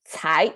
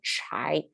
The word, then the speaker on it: 才: h so without h that means uh a flat tone without without uh the curling of the tongue thai instead of chai it's thai chai thai okay i hope you can